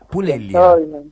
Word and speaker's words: Pulella: Porque viste que algunos apellidos, por ejemplo, el mío también, se pronuncia de una manera, pero con la L, con la doble L, depende. Claro. Cómo, sí, porque es italiano.